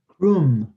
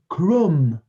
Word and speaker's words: crumb: Krum. You don't pronounce the B. Very good. So we say it again. Krum. Well, I try, but crumb.